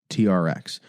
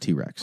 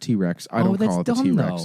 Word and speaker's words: TRX: this point Ram had the rebel the ram TRX and I know that everyone's like it's pronounced T-Rex no actually it's pronounced T-Rex oh I'm so stupid I didn't know that yeah it's pronounced T-Rex it is I don't like this donut no